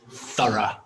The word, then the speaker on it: thorough: and you can see it has two syllables and the stress is on the first syllable and the word was thorough thorough M so if